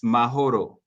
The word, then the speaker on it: Mahoro: And they what they do is now by the way the way you're saying it people would know it's mahoro. The h is actually pronounced in mahoro.